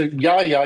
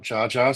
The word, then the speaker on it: Jaja: So Yaya, you said it right, not Jar.